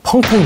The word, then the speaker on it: 펑톈: 20세기 전투의 결정적인 하루, 펑텐 전투입니다. 우리가 흔히 봉천으로 알고 부르는 이곳은 중국 발음으로 펑텐이죠.